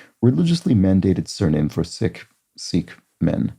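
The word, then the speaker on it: Sikh: mandated surname for sick seek men I think it's more properly pronounced sick but it's I find that that confuses people um sing yeah there we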